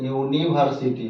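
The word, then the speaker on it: university: एन लगा दे, गलत, क्योंकि इसका उच्चारण जब आप करेंगे प्रोनाउंसिएशन तो यूनिवर्सिटी होगा, क्या होगा, यूनि, यहाँ से उच्चारण हो रहा है, वाई से नहीं हो रहा है, तो इसमें क्या लगेगा, ए यूनिवर्सिटी।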